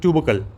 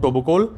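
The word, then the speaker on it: Toubkal: Atlas पर्वत की सबसे ऊंची पर्वत चोटी की बात करें तो उसका नाम है माउंट ट्यूबकल। कहीं कहीं पर इसको बोला जाता है माउंट टोबुकोल।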